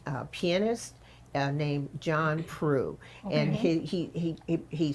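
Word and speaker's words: Proulx: is an expert uh pianist uh named John PR and he he he he spells his name p r o u LX but it's pronounced PR and he is a classically trained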